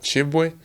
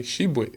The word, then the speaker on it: Tshiebwe: name that's not me my name is like in french pronunciation is a french like i'll probably say uh they call it chibwe but it's here to make a little bit easier you can call me shibuya that's as i'll say